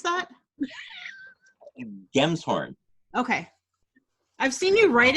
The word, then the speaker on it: Gemshorn: Gemshorn. Okay. I've seen you write it before, but it's one of those things where I'm like, is it a Jim's horn? It's a Gem's horn. Gemshorn.